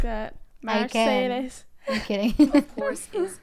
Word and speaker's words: Mercedes: So most Americans call this Mercedes. In German, we pronounce it Mercedes.